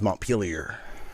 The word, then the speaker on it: Montpelier: And not to be correcting and stuff like that, that's a little rude, but it is pronounced around here, they don't pronounce it so fancy. It's pronounced Montpelier.